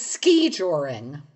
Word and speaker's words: skijoring: The word is ski-joring. Ski-joring. And that's how it's pronounced? Ski-joring? Yes. Emphasis on the first syllable.